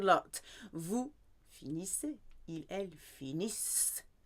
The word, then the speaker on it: finissent: Il, elle finissent. Silent ENT.